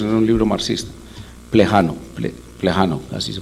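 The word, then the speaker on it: Плеханов: Plejano, así se pronuncia, que es el papel del individuo en la historia.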